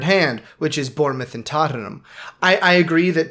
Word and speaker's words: Tottenham: which is Bournemouth and Tottenham I I agree that Tottenham does well um why do I pronounce it that way it's Tottenham not Tottenham Tottenham just an educated